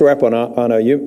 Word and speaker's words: Rapuano: It is Rapuano? Is that correct pronunciation? Yes. Mr. Rapuano, you mentioned, I think, earlier when I was